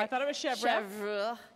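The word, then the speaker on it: chèvre: I thought it was Chev say Chev it will sound so much better than going up to the C of from now and say Chev okay like Chevron but shorter so I'm just going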